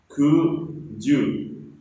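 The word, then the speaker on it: 九十: Kuju, kuju, kuju.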